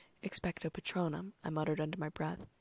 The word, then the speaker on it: Expecto Patronum: Now," he said, raising his wand, "the incantation for this charm is Expecto Patronum, which is pronounced Expectro-Patronum. Expecto Patronum," I muttered under my breath.